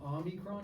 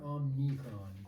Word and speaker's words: Omicron: Are you saying Omicron or Omnicron? Omicron. Okay. So OMNICRON. Omicron. Omni. No N sound. Yeah. Oh, there's no N. No N. Yeah. Omicron.